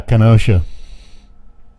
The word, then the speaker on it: Kenosha: hell oh man that's a heartbreaker if you pronounce that right is it kenosha is that right yeah kenosha this guy that ran over those people and